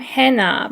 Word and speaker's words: Hannah: I'm Hannah. 발음 기호가 Hannah이기 때문에 Hannah라고 읽어드릴게요.